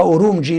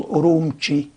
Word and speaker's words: أورومتشي: الآن يكتبوها أورومجي لكن هي تلفظ أورومتشي بحرف التشي ب3 نقط.